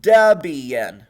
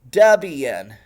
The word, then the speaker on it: Debian: To pronounce it, it is Debian with a short e and dub. An emphasis on the first syllable. Deborah and Ian Murdoch. Ian prefers Ian. So it is Debian. Debian.